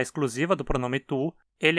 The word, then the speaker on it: du: Ele continua sendo pronunciado tu, só que sempre com uma vogal curta por ser átono.